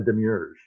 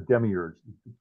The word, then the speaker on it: Demiurge: It's also referred to as the Demiurge, or the Demiurge, depending how you want to pronounce it.